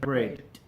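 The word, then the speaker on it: brède: but apparently it's called you pronounce it you pronounce it bread uh leah says have you had the small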